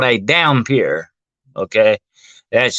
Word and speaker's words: dhampir: A half human, half vampire is called a dhampir. Okay, that's spelled Dhampir.